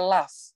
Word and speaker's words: laugh: Misalkan mungkin teman-teman pernah dengar kata tulisannya tuh lauh ya, lauh. Nah, itu kan kalau nggak tahu cara pelafalannya, nanti orang Indonesia bacanya lauh, lauh. Padahal yang dimaksud ada laugh.